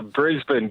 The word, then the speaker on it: Brisbane: us in Brisbane Australia is that how you say it is it Brisbane did I get that that right Luke I'm trying to be better yeah that's it that's it it's uh Brisbane good morning it's currently just after 7 a.m.